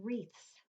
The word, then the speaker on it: wreaths: silent letters and look we have that W R in the word wreaths we hear the Ruhr but we don't hear a W and poppies okay flags